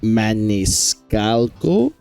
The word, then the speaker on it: Maniscalco: Martinet, Charlie Day, Keegan-Michael Key, Fred Armisen, Sebastian Maniscalco, I do believe that's how you pronounce his name, Jessica DeSisco, Kevin Michael Richardson, Carey Payton, and Eric Bozza.